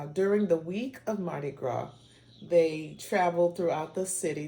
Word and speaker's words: Gras: French and Gra and you notice that the S is silent g-r-a-s gra means fat